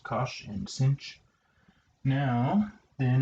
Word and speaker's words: cosh: the hyperbolic trigonometric functions hyperbolic cosine hyperbolic sine pronounced cosh and sinh CH now then if we want